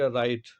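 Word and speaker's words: write: Like राइट, तो डब्लू का हम प्रोनाउंसिएशन नहीं कर रहे हैं, आर आई टी कर रहे हैं एक तरह से।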